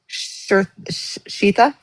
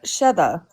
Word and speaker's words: Sheda: Ivana, would you want to go through, Becca, one of the two, go through how you met Shita? Shita? Is that how you say her name? Sheda.